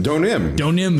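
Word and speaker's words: Deauxnim: Elise Donim. Donim is how it's pronounced.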